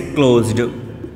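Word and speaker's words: closed: जब ज साउंड निकले, ज या ज, तब आप निकालिएगा ड साउंड, जैसे क्लोज्ड। ठीक है, अरेंज्ड, मैनेज्ड।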